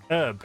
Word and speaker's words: herb: Chimken doesn't pronounce the H in herb because he's a fucking What Prune. say it? What say it? herb. Herb.